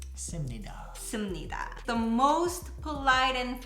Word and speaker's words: 습니다: It's spelled different than it's Yeah. pronounced. it's spelled 습니다. So hard to say 습니다. So it softens 씁니다.